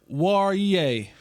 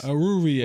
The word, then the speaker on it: Oruwariye: You can give me whatever pronunciation. Nate, you want to take a shot? Oruwariye. Good job, Jess. Oruwariye.